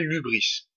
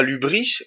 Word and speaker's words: hybris: monde grec, ça s'appelle l'hubris. Alors l'hubris, si je me trompe pas, ça s'écrit H-Y-B-R-I-S. Ça s'écrit pas comme ça se prononce.